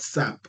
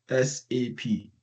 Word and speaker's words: SAP: as a word called SAP. No, in industry we don't say SAP. It's an acronym. So we pick the words one by one. So we call it SAP and SAP stands for systems one, applications two and product three.